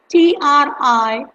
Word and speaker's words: Triphala: Yes, it's Triphala. Tri is try, like three, and Phala, that is phala, is the Sanskrit word for the fruit, medicinal fruit.